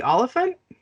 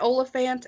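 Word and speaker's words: Olyphant: gonna apologize now timothy oliphant oh yeah that's right okay cool uh because i didn't know uh uh so i've heard it olafant and oliphant so yeah and i'm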